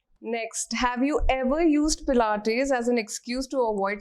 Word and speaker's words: Pilates: this one is interesting has anyone ever mispronounced the word pilates in front of you always yes tell us some fun ones play it is the time it's played it's pilots there's so many variations to it so we always